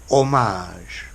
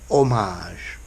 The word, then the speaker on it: homage: For this meaning, they've taken the French pronunciation, homage, and homage, okay, and spelt with